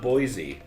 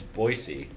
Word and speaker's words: Boise: I even of that learn to pronounce Boise correctly it's not Boise y'all it's Boise just John Morgan anyway